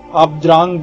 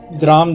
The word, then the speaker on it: द्रां: DRAAM can be pronounced in two ways... You can either speak 'DRANGG' 'DRANGG' 'DRANGG' or "DRAMM" "DRAMM" "DRAMM"...